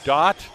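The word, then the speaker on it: Dhatt: guard number 21 Josh dot that is spelled d-h-a-t-t but it's pronounced Dot d-o-t he'll be playing at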